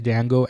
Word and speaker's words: Django: what's your name and he says Dango and do you know how it's spell and he says yeah TJ a n g o the D is silent the guy who asks